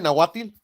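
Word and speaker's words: Nahuatl: you said it right I said it right natil okay yeah yeah like that so there you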